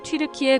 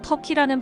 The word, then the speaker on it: 튀르키예: 여기에서 튀르키예 국호 유래에 대해 정보를 알려드리겠습니다. 이미 아시는 분도 많으시겠지만 튀르키예는 우리가 지금까지 불러왔던 터키입니다. 튀르키예라는 국호가 영어권에서 터키라는 발음으로 하게 됐는데, 터키는 영어로 칠면조를 뜻하고 겁쟁이,